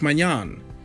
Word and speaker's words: Maignan: this time is about Mike mignon yes that the way it is pronounced in French the French international 24